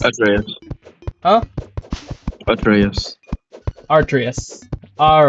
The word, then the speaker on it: Atreus: Artreus. Atreas. Huh? Atreus. Artreus. All right, then. Atreaus. Atraus. There you go. Atraus. So, not really an a sound, more of a U sound.